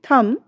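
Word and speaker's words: thumb: यदि किसी शब्द में एम के बाद बी आता है अक्षर शब्द के अंत में तो हमारा जो बी होता है बी लेटर्स जो होता है वो साइलेंट हो जाता है।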